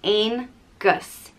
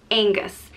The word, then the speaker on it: Angus: son of dagda and it's pronounced ain gus angus and it can also